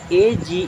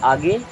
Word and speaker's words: age: आई टी fit then ए जीी ई अब ए जीी ई को क्या पढ़ेंगे आगे नहीं इसे पढ़ते हैं एज क्या पढ़ते है जज